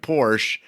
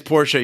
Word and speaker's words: Porsche: think it was me he was mispronouncing it porsche it is porsha you were right i looked it up so that is one